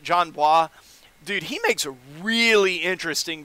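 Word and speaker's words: Jon Bois: the video on him John blah or its how you pronounce that John wah dude he makes really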